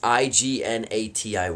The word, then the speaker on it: Ignatiy: Sorry, it's hard to pronounce his first name. I can pronounce his last name fine, but his first name's a little weird. It's Ignatiy, I think. So it's Ignati. They call him Iggy, but